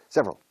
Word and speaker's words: several: So I have several, several, several, escrito, pronunciado casi dos sílabas, several.